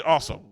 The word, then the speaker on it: Awsumb: It do say awesome. That is his name. AWSUMB. That spells awesome. Awesome with a silent B.